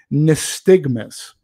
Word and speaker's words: nystagmus: So Langella suffers from something called, I'm going to try to pronounce this correctly, nystagmus. It's spelled N-Y-S-T-A-G-M-U-S.